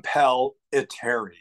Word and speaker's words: Impellitteri: very difficult it's an impelleri so think of it this way like the word compel like I compel to you too so impel and then ill like it and then